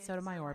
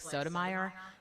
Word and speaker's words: Sotomayor: right yeah yeah and he actually changed the pronunciation of his name um for the judge it was just like sodomire and now it's sotomayor sotomayor he's fantastic he's